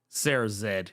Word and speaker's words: Sarah Z: also it is true Sarah Z does pronounce Sarah's Sarah Zed because yeah she is Canadian I always forget about